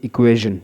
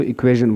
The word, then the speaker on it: equation: पड़ प्रोनाउंस होता है इसको हम प्रोनाउंस करते इक्वेशन ठीक है ये ज साउंड है लेकिन बाज लोग श भी बोलते हैं इंग्लिश पीपल जो बोलते हैं व इक्वेशन बोलते है अच्छा तो